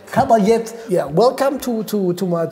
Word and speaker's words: Cal Batllet: the Rin is so so difficult to to pronounce well it is name it calet calet yeah welcome to to to my to my